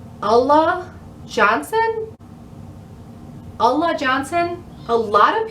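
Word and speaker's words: Ulla Johnson: wait i second guessed myself on how to pronounce it it's allah johnson allah johnson a lot of people been finding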